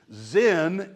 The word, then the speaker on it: Zen: Zen is the Japanese pronunciation of a Chinese word called Chen.